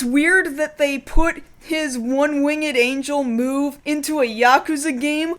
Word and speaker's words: One-Winged Angel: his finishing move is One-Winged Angel he pronounces It One Wing at Angel and I guess a lot of people do I do not anyway he's wrong I'm